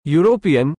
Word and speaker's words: European: from a European country the word European begins with a consonant sound though represented by the letter e in English when a word begins